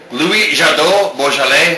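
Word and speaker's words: Louis Jadot: Louis Jado Bj.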